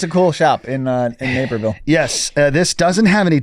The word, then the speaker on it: Naperville: Is it Naperville or Napersville? Naperville. I think I say it wrong. It's named after a gentleman by the name of Tom Naper.